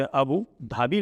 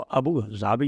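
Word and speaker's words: Abu Dhabi: जैसे अबू धाबी लिखा जाता है लेकिन उसका प्रोनाउंसिएशन जो है वो अबू जाबी होता है।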